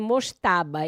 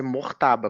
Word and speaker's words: Mojtaba: Olha, a pronúncia que eu ouvi aqui nas nas redes internacionais é Mortaba, como se fosse um R mudo, mas eh prometo a